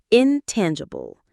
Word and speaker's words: intangible: Intangible. Intangible. The stress is on the second syllable. Tan. Intangible.